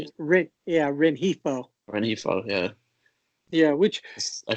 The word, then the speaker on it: Rengifo: Rengifo.